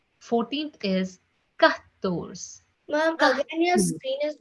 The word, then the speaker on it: quatorze: 14th is pronounced as quatorze, quatorze, quatorze, quatorze.